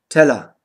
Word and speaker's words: Teller: Die unbetonte Endung ER wird A ausgesprochen. Teller, Meister.